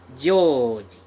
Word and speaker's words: Joji: But in Japanese style pronunciation, George is read or pronounced as Joji. Joji.